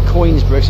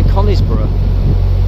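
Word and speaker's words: Conisbrough: in queensborough connie's bro i say coins bruce is spelt coin with an s people say conniesborough i don't know not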